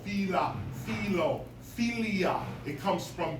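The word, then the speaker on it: φ: When most people see phi, they pronounce it as phi. However, phi is not a word, it is actually a Greek letter. And it was originally pronounced as an aspirated P, heard as puff, with a puff of air at the end. That's what an aspirated P is, puff. It's not P, it's puff.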